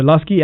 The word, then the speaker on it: Luscii: Download the Lusky app right now and connect to this service. Lusky is spelled Luscii.